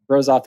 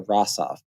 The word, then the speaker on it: Rosoff: So technically, Rosoff is a mispronunciation. Rosoff is the Americanized version. It'd be much closer to Rossoff.